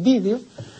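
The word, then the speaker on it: vídeo: es una pronunciación Bárbara Ahora resulta que la academia admite las dos pronunciaciones la correcta la etimológica la latina que es vdeo y curiosamente así se dice en España y video que se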